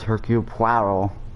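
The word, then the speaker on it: Hercule: the same way as hercup that's how you say his name he is french you fancy yourself don't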